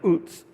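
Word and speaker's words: Uz: There was a man who lived in the land of oots.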